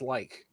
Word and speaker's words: lich: And in Old English, it's pronounced like. Wow. I always said lich.